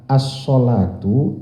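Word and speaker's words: الصلاة: Pada kata as-sholatu itu ada alif lam di depannya, dibacanya as-sholatu.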